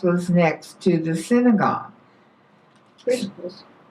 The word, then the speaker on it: Crispus: Crispus. Christmas? Crispus. Crispus. I'd pronounce it Cyprus, but Crispus, the leader of the synagogue,